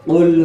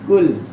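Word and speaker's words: قُلْ: Lagi qul huwallahu ahad, qul ya, bukan kul.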